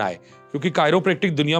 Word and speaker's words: chiropractic: शब्द है कायरो प्रेक्ट बहुत सारे लोगों को प्रोनाउंस करना भी नहीं आता है बहुत गलत प्रोनाउंस करते हैं लोग हमारे पास कॉल्स भी आती हैं यह सब क्याक प्रोनाउंस करते हैं प्लीज व भी बताइए जरा चीरो प्रैक्टिक है ना बहुत सारे नाम